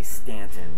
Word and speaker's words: Staunton: we're from north so it's spelled like staunton but i heard someone say stanton locally so that might be